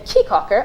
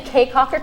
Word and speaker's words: Caye Caulker: going to do in Key Cocker I keep saying caye caulker cuz the way that it's spelled but everybody copyright key Cocker and we're gonna I'd